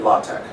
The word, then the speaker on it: LaTeX: in a system that's called latex some people say it la tech it looks like the substance that some people are allergic to the rubber gloves are often made out of latex this but it's spelled that way but it's not that word his father anyway Tech